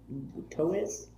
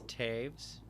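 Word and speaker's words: Toews: guy some chop and toe toes toes i believe it's taves um daves yes i mean i think taves would be t-a-v-e-s at least i would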